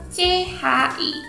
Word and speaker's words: chi: Hi sekarang masuk ke Chi Chi itu cara bacanya seperti saat kita bilang gereja Church Church Church Church CH ce ce